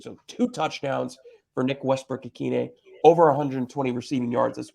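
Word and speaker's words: Westbrook-Ikhine: right you don't think I know how to pronounce my own guy's name you said akina it's a kid a Nick Westbrook Aquino there you go the mustache got it right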